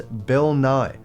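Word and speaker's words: Nighy: of my favorite series it is Bill Nye I'm I swear you can look it up for yourself it's not Bill nightly there's no T it's not Bill NY it's it's Bill Nye hello I'm Bill Nye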